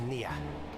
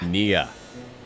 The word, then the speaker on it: Neyyah: Whereas before we we both have been told it's pronounced like near.